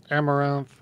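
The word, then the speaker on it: Amouranth: Like Amaranth, Yeah.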